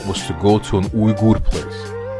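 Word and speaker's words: Uyghur: to go to an ur place many people associate URS with China and also completely mispronounce their name and say weager and weird stuff like that anyway they're also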